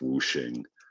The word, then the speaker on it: 五行: way of spelling the same thing it's still pronounced whooing means the same thing so so what is